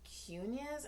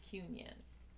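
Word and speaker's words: Quiñones: in the Middle kid no cune like not Muniz cunions so anyway anyways I'm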